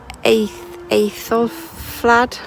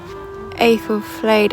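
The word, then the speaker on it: Æthelflæd: that, incorporates remnants of the church built by 900 AD by, I can never pronounce her name, Aethelflaed. The daughter of King Alfred the Great, I can't pronounce it. Aethelflaed and her husband Aethelred were rulers of Mercia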